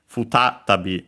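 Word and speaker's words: 再び: Notice, by the way, also the u of the fu barely heard if at all because it's between unvoiced consonants.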